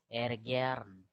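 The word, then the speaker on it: ärgern: And A umlaut is pronounced as A. In Telugu, they have that second A. So it is Ergern.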